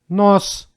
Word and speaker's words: нос: Letter O in the words with one syllable always pronounced like O. You may repeat after me. Кот, кот. Рот, рот. Нос, нос.